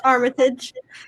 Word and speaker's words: Armitage: I know I say it wrong. It's Armitage. Armitage. See, I'm so sorry. And you're my friend. She's like my neighbor, and I say it wrong all the time. But sorry. Forgive me. Okay. It's because of Richard Armitage. Yeah. I love him so much, and so I always say it that way.